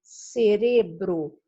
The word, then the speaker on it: cerebro: Então, a resposta correta é a alternativa C, cerebro. Enquanto que em português nós temos cérebro, em espanhol temos cerebro. A sílaba tônica é ore.